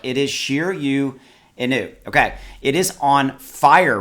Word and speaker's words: Shiryo Inu: And I realize that looks like it would be Sheer Yo, but it is Sheer You.